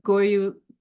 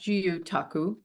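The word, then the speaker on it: gyotaku: we did fish printing goyu well I think it's pronounced guu taku like a Japanese technique of printing the fish so all the kids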